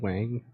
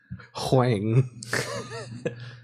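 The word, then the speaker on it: Huang: really like that guy Jensen Wang no it's with an H hang yeah I'm sorry powerful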